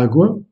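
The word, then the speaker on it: água: de fruits aux donc se dit à agua l'accentuation est fait sur la première syllabe le premier à agua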